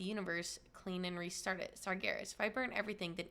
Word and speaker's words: Sargeras: Sargeras.